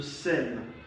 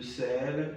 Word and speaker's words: sel: So only the following French words are being pronounced at the end of the word. B, R, C, F, L. So these are the consonants pronounced at the end of the word. So we have club, le sac. Okay, there was a repetition. Le clef, le sel. So these are consonants pronounced at the end of a word.